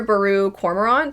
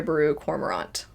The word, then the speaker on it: Baru Cormorant: But to my understanding, it's pronounced Trader Baru Cormorant.